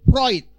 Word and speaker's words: Freud: tulisan Sigmund Freud Gan tulisannya Sigmund Freud itu bacanya harus Sigmund proid Sigmund proyek Naurah Sigmund